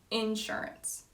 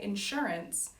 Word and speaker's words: insurance: Another example, in Georgia, I would say insurance. I wouldn't say insurance, I would say insurance.